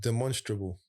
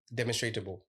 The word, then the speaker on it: demonstrable: the word is pronounced demonstrable. Demonstratable. Yeah, but I think they pronounce demonstrable. Come on, we're from East. Is it demonstratable? It's demonstratable. I'm pretty sure it's demonstrable, we'll make up a word if whatever, bro.